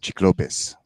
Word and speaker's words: Cyclopes: The original pronunciation in the Latin is Cyclopes or Cyclopes. It's weird because there's no soft C in Latin.